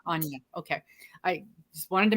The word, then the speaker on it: Anja: So, Miss Anja, and it's Anja, correct? That's the correct And yeah, pronunciation? Anja.